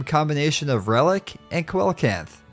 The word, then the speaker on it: coelacanth: combination of relic and coelacanth or coelacanth if you say it correctly which is the prehistoric